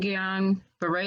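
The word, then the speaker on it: Guillain-Barré: your treating professional absolutely now can you explain guillain-barre is how you pronounce that yeah right yes yeah yes so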